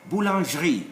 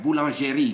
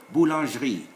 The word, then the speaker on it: boulangerie: Whenever you see airy, you see at the end all the E's without an accent are silent in French. So we will call here boulangerie, not boulangerie, no, boulangerie.